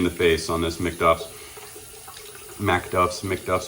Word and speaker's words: Macduffs: face on this mcduff's Mac duffs mcduffs I always probably say it wrong it's it's Mac but anyways fantastic cushion